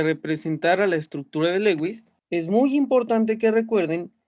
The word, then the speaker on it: Lewis: que se conoce como estructura de lewis o algunos lo pronuncian como lois también es conocida como